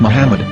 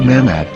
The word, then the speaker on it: Muhammad: According to Ben Yehuda's Hebrew English Dictionary, it is correctly pronounced as Muhammad, not Mamad.